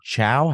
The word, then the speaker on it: Zhou: Is it Chow? Is that how you say it? I'm sorry. Zhou. Zhou.